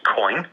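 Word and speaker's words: Quoine: We are developing the technology currently with a licensed and regulated exchange in Japan called Cowan, spelled with a Q-U-O-I-N-E.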